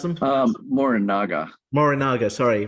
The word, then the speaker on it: Morinaga: yeah so yeah let's talk about that so Moringa nutritional Foods is how you pronounce them um more in Naga morinaga sorry right it trips me up too sometimes